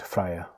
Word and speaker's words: Freya: the way it should there's another way to pronounce that name if people like to do all sorts of things with the J the thing is it's supposed to be be a why I've never heard it